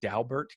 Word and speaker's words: Daubert: But one of the things I talk about a lot is the Daubert case, and that is how you pronounce it, I'm told, by the lawyer who had the case.